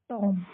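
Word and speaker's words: tomb: तो बी को साइलेंट करके हम इसको क्या पढ़ेंगे? टॉम।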